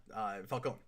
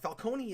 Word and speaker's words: Falcone: But Falcone is in, because they pronounce it Falcone in the Batman and in Gotham. It's Falcone everywhere else.